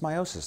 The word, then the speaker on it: meiosis: to do sexual reproduction now it is properly pronounced meiosis like I just said but I have found